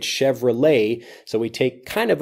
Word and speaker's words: Chevrolet: this video we had Chevrolet and that has the same et at the end of it Chevrolet so we take kind